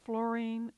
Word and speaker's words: fluorine: Fluorine is an example. It's often pronounced fluorine, but I believe the preferred pronunciation is fluorine.